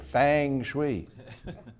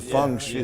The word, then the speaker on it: feng shui: Having a snake in your cereal is good fang shui." See, it's a feng shui. It's a feng. Right. I think the man mispronounced Yeah, it.